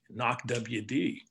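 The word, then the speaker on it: NAWCWD: be at china lake knock wd which of course stands for the naval air warfare warfare center weapons division pronounced knock wd we have our idols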